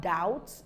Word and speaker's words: doubt: articulate the sound so we have doubts the B is not pronounced I'm a debtor not